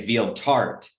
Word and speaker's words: Valter: i actually usually say veal tart so it's like a dessert with feel it's very that's how it's pronounced in swedish actually alter actually made following